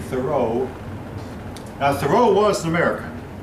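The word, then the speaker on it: Thoreau: by a man that whose name almost rhymes with Roso Henry David thoro now thoro was an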